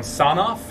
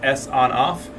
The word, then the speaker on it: Sonoff: of these smart thermostats from sawn-off or actually I think it's pronounced s on off this company so this